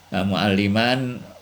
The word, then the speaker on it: mu'alliman: Mu'alliman wal lisanu kana mu'allaman ya, yang diajari. Ini bedanya, ini tulisannya sama tapi ini bacanya beda ya. Kalau mu'alliman itu guru, kalau mu'allaman yang diajari kalau nggak salah.